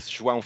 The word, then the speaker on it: João: So, and it's not Yayo, it's not Ayo, which was one of the suggestions. It's not Joe. It's not Joe either, and I do apologize.